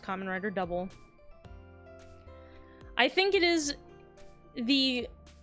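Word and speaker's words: Kamen Rider W: writer and then the letter W but it's pronounced common writer double I think it is the quintessential common rider show and it I think it outlines exactly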